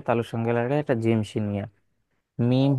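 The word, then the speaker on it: م: সঙ্গে লাগে এটা জিম মিম হরফটা ঠোঁট হইতে উচ্চারিত হয় জিহ্বার কোন কাজ নাই ওয়াও বা মিম এই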